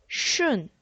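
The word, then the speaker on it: 顺: 그래서 리오, 따, 슌 발음이 슌이에요.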